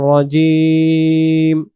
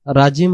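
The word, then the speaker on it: رجيم: করে বলবো শাইতানির রাজিম রাজিম আমরা পড়বো না উচ্চারণ করবো কি রজিম রজিম শব্দের অর্থ হলো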